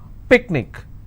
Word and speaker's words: picnic: Picnic, I will stress on pick.